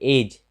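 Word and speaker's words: edge: फिर एज, एज यानी किनारा या सिरा, तो यहाँ भी डी के बाद जी है, तो इसका उच्चारण नहीं होता है।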